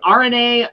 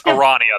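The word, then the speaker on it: Aranea: announced, but the episode RNA, episode Lunafreya, episode Noctis, all were part of the Dawn of the Future DLC plan and have now ceased production. Mm-hmm. So, and it's Arania, that's how it's pronounced.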